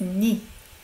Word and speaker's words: 니: When it's shortened to 내, we actually say as 니.